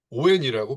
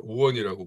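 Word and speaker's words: Owen: 자, 어, 이원이란 사람은 뭐 얼마 전까지는 이제 흔히 그 오엔이라고 불렀어요.데 요즘에는 이제 이걸 본토 발음으로 이제 원이라고 부르는게 맞다라고 해서 네.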